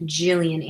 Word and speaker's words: Gillian: is just beyond overwhelming it's a soft g oh gillian flynn jillian anderson oh yay you